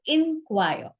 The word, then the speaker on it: inquire: e is n choir and the pronunciation of the second word with I is inquire okay now often I